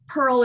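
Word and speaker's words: Purl: This is Pearl, everybody. I'm sorry. I don't know if they can see her, but. And it's spelled like Pearl and Knitting. Right? P-U-R-L. Yeah, she's my Pearl.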